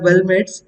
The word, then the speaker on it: weldment: make in welmet so the reason we are pronouncing it as welmet it is because we are going to weld one structure upon another so we'll start with